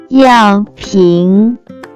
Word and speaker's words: 药瓶: First character is 药 Pronounce with fourth tone.